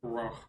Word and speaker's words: Rogh: It's ROGH. pronounced something like Row.